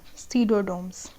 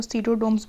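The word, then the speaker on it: Pseudomonas: They are called डीनिट्रीफाइंग bacteria, example सीडोडोम्स। इसमें I think P silent होता है तो उसको सीडोडोम्स बोलते हैं।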